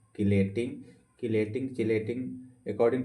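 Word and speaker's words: chelating: Ligand के साथ साथ इसी को बोलते हैं चिलेटिंग, इसी को बोलते हैं नॉर्मल भाषा में किलेटिंग। किलेटिंग चिलेटिंग according to pronunciation से पढ़ते हैं।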